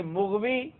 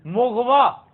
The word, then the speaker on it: مغوی: ہم پہلے کر چکے ہیں کہ مغوی غلط تلفظ ہے. یہ پتہ کیا ہے؟ مغوا.